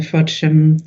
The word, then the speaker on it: Frodsham: Just in terms of this two-circuit route from the Frodsham, that's how it's pronounced, substation, to Fiddler's Ferry substation, can you just explain the background to that briefly, please?